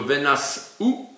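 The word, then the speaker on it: ונשאו: Ils devront porter Venaseu ou Venasou, puisque le Sheva ne se prononcerait pas, donc on devrait dire plutôt Venasou, avec une petite interruption là.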